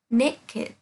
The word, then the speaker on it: naked: Lưu ý nhé, sẽ có một vài trường hợp là tính từ đặc biệt sẽ được phát âm là ed. Ví dụ như là cô đây có từ naked.